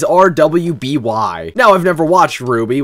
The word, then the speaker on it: RWBY: now I've never watched Ruby which is how you say this somehow so I have literally